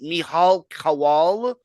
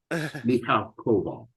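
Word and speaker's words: Michal Kowal: Mihal Kowal? Close. Mihal Koval.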